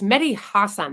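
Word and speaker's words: Mehdi Hasan: interchange with Hassan perer it's medy Hassan that's how he says his last name I absolutely hate seeing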